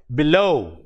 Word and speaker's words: below: for example in a in a word like below b e l o w b e l o w actually this b is a prefix and with the words for words with a prefix usually the usually the penalty sorry the words with weak prefixes what happens is the stress is on the root word here the root word is low so we don't say